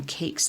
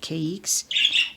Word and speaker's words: caiques: I was pronouncing them cakes last week, but caiques and a Indian ringneck because I like the personalities.